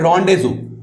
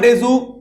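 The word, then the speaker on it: rendezvous: इसका ऑब्जेक्टिव क्या है इसको बोलते हैं रजू अब जैसे ये लिखा हुआ है वैसे इसको प्रोनाउंस नहीं करते इसका ऑब्जेक्टिव रहेगा रजू डॉकिंग या अनडॉकिंग करना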